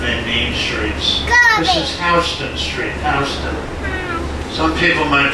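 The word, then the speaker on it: Houston Street: main streets this is hon Street hon some people might pronounce it Houston spell the same way is butman Houston is pronounced house I know it's strange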